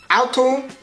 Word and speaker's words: Auto: Auto wird bei uns Auto ausgesprochen, also einfach wieder das T durch ein weiches D ersetzt.